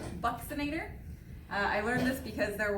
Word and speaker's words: buccinator: si I an ATO R and it is pronounced Buxton ater I learned this because there were four anatomy